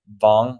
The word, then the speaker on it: Wang: It's Vong Hi. That's how you say it in uh ch Mandarin.